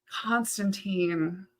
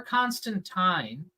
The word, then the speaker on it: Constantine: Constantine. Or Constantine for the people who say it correctly.